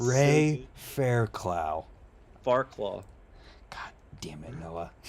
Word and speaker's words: Fairclough: John at the Trails calls him Ray Fairchild. Fairchild. Farclaw is my favorite one. His last name It's so Ray good. Fairclough.